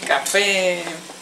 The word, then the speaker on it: café: Sí, café. Acento en la E.